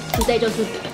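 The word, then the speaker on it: 부대찌개: Budae jjigae Budae jjigae (Pronounce in Korean.)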